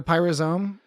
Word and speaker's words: pyrosome: Isn't it a pyrosome? Pyrosome. Whatever. Pyro, but it's spelled Pyro-sum is how it's spelled. SUM? SOME. Yeah, pyrosome. So, yeah, I'm just saying it's spelled as in pyro as in fire and some as in some of the time.